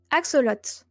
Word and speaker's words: axolotl: Axolotl. Axolotl. Axolotl. Yeah. I think it's written the same, but we don't pronounce the L.